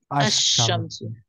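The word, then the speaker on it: الشمس: Ashamsu, the sun, is pronounced Ashamsu. So basically, in solar letters, we don't pronounce lam. Lam becomes silent. And lunar letters we pronounce lam as well.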